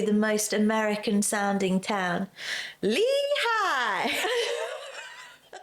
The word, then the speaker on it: Lehigh: Lehigh! It's not. I swear on my life. Lehi, as we were saying, is pronounced Lehigh. It's commonly pronounced with a long E sound followed by high. Crumbs. That's Lehigh!